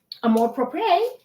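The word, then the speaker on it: Amour Propre: Actually, Amor Propre, Tahara will be there selling her soap and skincare.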